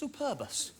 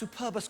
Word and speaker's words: superbus: it's Latin name lonis Superbus Superbus I like that you got to pronounce Superbus correctly haven't you it's Superbus it's Latin for superb and if it's super bus it's just a nice bus and you're never going